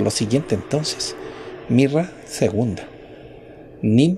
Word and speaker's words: neem: Nim, que se escribe Nem con doble E.